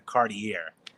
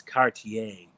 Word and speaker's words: Cartier: the top trim package for me is the Cartier and I know I pronounce it wrong because everybody lights up my comment section. It's Cartier.